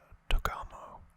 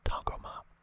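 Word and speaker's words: Tagoma: Force, with his assistant Togamo. I can't pronounce his name right. It takes me a couple of times. Togama. That's it.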